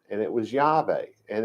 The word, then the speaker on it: Yahweh: name and it was yahweh and it's not it's not pronounced with a w the w comes from